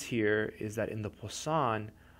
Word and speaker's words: Poisson: It's spelled P-O-I-S-S-O-N.